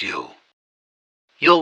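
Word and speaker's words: Jul: Yuletide celebrations which they call Jewel pronounced you 'll was a pagan Festival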